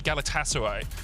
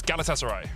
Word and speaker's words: Galatasaray: couple of tweets saying don't say galatasaray so it's galatasaray yeah we'll try if